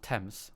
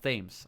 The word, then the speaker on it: Thames: didn't actually crank sames is pronounced temps why River Thames why is it not Thames I don't know that